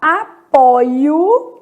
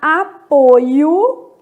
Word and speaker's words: apoio: Aqui eu vou colocar apoio, e vou indicar aqui que é um verbo, e aqui eu vou colocar apoio, indicando que é um substantivo, só para a gente marcar a diferença de pronúncia.